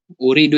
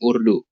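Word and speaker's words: أريد: koreksi ini tadi ya uridu ya dibacanya Bapak saparta ya bukan Urdu uridu iya uridu oke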